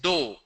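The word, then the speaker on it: dough: D-O-U-G-H is do. D-O-U-G-H pronounced as do.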